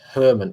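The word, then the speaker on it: Germán: 100 but i think german is pronounced herman if you know what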